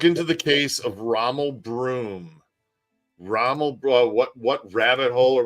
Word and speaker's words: Broom: Rommel Broom, like a broom, yeah, like a push broom.